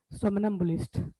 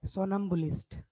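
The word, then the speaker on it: somnambulist: के एक लड़का था, उसको मैंने पढ़ाया था सोमनम्बुलिस्ट, तो पता है क्या बोल रहा था? सोनम्बुलिस्ट। उसमें सोनम्बुलिस्ट। साइलेंट क्या है सर? क्या? वर्ड में कुछ साइलेंट है क्या? कोई वर्ड, कोई अल्फाबेट? क्या बोल रहे हो, मुझे समझ ही नहीं आ रहा। वो कह रही है कुछ साइलेंट वर्ड है क्या? नहीं है। नहीं, सोमन, इसको पढ़ेंगे सोमन एम्बुलिस्ट, सोमन एम्बुलिस्ट, सोमनस एम्बुलिस्ट, ये ऐसे करके बना हुआ है।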